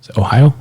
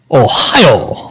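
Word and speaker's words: ohayo: sheriffs around the country it actually is a Japanese word but it's spelled o h a yo oh Ohio and uh means good morning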